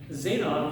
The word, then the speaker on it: zeta: epsilon zeta here's zeta zeta is kind of interesting has a d and a z. So zeta be you start with a d like you're going to say duh but then you just kind of like rob it with a z.